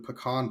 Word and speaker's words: pecan: And I'm drinking their Southern Pecan Blend. Ooh, proper pronunciation of pecan.